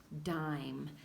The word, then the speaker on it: dime: called a dime and magic e is silent okay so you know that you don't have to say the magic I found em em dime very good we're going